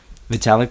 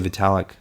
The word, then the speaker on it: Vitalik: metallic Lutheran so that that's how I'm gonna pronounce it Vitalik please don't hurt me I know I mean